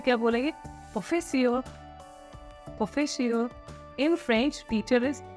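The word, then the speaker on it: professeur: अब देखिए इंग्लिश में भी प्रोफेसर बोलते हैं, सेम लैंग्वेज है, सेम स्पेलिंग है, सेम थोड़ा सा ट्विस्ट है इसकी pronunciation. Okay, in French teacher is प्रोफेसियर, okay.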